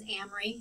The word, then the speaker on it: Amory: So as I said, my name is Amory. If it helps to remember, it rhymes with Camry.